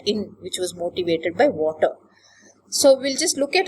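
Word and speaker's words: Watir: there is a tool called water pronounce it as water it stands for web application testing in ruby ruby is this programming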